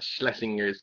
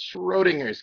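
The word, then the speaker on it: Schrödinger: got tongue tied because it's not schlesinger's cat it's schrodinger's cat and i can say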